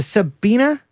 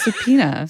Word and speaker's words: subpoena: Enforcement, a majority GOP committee voted to subena. Sub sub, how do you say it? Subena. No, you just subpoena.